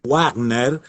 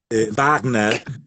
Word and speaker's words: Wagner: que la la ch se pronuncia como un ajena alemán y que no es richard wagner éste no es warner y que es richard wagner y entonces bueno esta